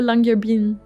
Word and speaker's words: Longyearbyen: Puis c'est sûr, je vais bâcler la prononciation, là, mais Longyearbyen. Ouais, ben tu l'as presque, là, Longyearbyen.